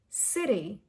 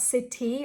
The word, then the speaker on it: city: Another example, this word, city, not city or city, not a very strong duh sound, but a very soft duh sound.